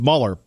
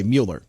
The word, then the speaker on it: Mueller: Here's the deal with Mueller. First of all, he really should pronounce his name the right way, Mueller. It's Mueller. It's not Mueller.